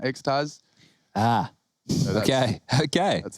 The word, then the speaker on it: xTaz: say his name properly he said like the thing you take in the nightclub you know xaz ah okay okay that's